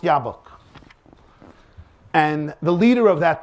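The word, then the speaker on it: Jobbik: it's pronounced jab it's it's written jab it's pronounced yabok and the leader of that party is a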